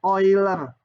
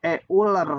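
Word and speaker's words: Euler: juga yaitu bilangan ini bacanya oiler kalau yang betul kalau di Indonesiakan jadi e ular gitu ya bilangan e ular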